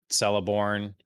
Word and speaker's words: Celeborn: Celeborn, that's how you say his name.